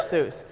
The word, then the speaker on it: Seuss: Does his name rhyme with goose? Yes, it does. I think it's Dr. Seuss. You're right, it is Dr. whoop. Seuss.